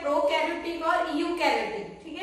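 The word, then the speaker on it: eukaryotic: इसमें ई साइलेंट है। ठीक है, प्रोनाउंसिएशन इसमें यूकैरियोटिक किया जाता है।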